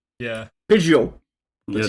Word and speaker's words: Pidgeot: Pidgeot! The Yeah, T don't, is silent.